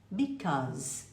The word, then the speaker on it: because: Because. Pense que tem um O, cause. E o som de Z, because, ok?